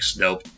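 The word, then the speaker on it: Snoup: it does sound like, it looks like it's spelled out as Snoop, but actually no, it's like Snope.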